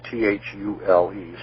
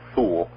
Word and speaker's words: Thule: as the Thule society that's THU le some people might want to pronounce it fool but the Thule Society